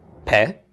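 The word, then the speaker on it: פה: the letter itself so a pay with the doggish a Sehgal vowel underneath it followed by a hey is pronounced pet and it means a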